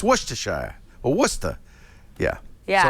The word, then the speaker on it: Worcestershire: when you talk in new england take out syllables slur stuff together with almost it's not worcestershire it's worcestershire or worcester yeah yeah so i think it's